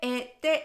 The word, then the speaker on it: et: Vamos a comenzar con la palabra que se escribe ET y significa I. Pero es muy importante que sepas que no debemos pronunciar la T que se encuentra en esta palabra.